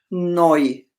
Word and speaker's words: neu: This is pronounced oi, neu, like in the currency euro. Huh? Oi. Okay, and Okay, this say that again. The oi is noi.